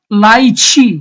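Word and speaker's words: lychee: লাইচি, আমরা যে লিচু বলি, এটা উচ্চারণ হচ্ছে লাইচি।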